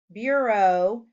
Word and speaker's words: bureau: Bureau has a long O sound in the second syllable.